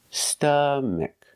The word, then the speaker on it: stomach: correct to say stomach it's not ah like father it's not an a it's a short sound uh like cup and up and cut uh St St stomach stomach put the stress on the first syllable stomach stomach a closed sound uhuh stomach example sometimes